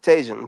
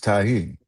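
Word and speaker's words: Tajín: I looked at the word and how it's spelled, and I pronounced it the way an American No, would. it said tahine. Tahine. That says Tajin, just like Jewin. I don't No, do Juan. It's Jewin. it's tahine. Oh All right.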